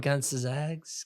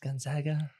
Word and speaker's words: Gonzaga: they looked really good we'll see going up gags Gonzaga Gonzaga never went an all G there not pronounced gag Mist how they not won one